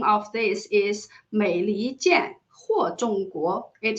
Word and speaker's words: 美離間禍衆國: Because the Chinese pronunciation of this is 美利坚或中国. It sounds very similar, it sounds very similar to the Chinese pronunciation for the United States of America, which is 美利坚合众国.